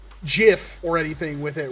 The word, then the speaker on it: Jif: interesting very interesting it's the peanut butter is pronounced jiff there's a local hot dog shop that has